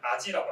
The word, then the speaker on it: AGI: 제가 제목에 AGI를 학습한다고 했는데 AGI가 좀 생소하신 분들이 있을 것 같아가지고 AGI, 한국어로 발음은 아지라고 합니다.